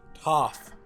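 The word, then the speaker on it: Toph: in the world's name tov toff like an f like top top like yeah okay the subtitles don't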